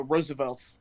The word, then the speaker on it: RSVLTS: thought it was you you have to spell it out rsvs for a while but they their actual brand name is the Roosevelts and so they do the rsvlts yeah and so I